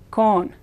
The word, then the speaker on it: con: chile con carne chili with meat it's not pronounced khan against spanish oh as always oh it's kon this word means without sin again i is